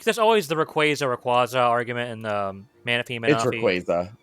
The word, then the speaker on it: Rayquaza: And then like there's always the Rayquaza argument and the Manaphy.